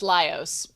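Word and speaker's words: Laios: chuk um Leos lios lios okay so it's lios in there okay lios so we go back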